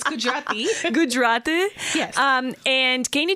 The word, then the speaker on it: Gujarati: It's Gujarati.